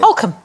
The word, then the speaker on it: Holcombe: Holcombe. Exactly. You know when people say hokum and miss out the L? No, well, that's wrong, but one can't...